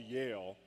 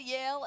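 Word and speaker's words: Yael: lead the procession, which is actually called the Yale. I think it's a very terrifying. It's called the Yale, and it's spelled Y-A-E-L.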